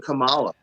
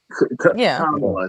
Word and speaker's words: Kamala: So tanky got it maybe but but I also was ready to vote for Camala Kamala.